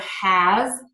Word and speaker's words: has: And these words are often pronounced with a Z. So we have the word has, is, was.